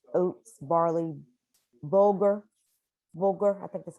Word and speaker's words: bulgur: Excuse me, Chef Ross, someone asked about using other high protein grains like buckwheat, spelt, oats, barley, bulgur, I think that's how you pronounce it. Yes, bulgur.